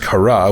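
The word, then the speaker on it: Kharaa: Oh yeah, and obviously we just learned about the fact that apparently it's pronounced Kara, which I wasn't aware of.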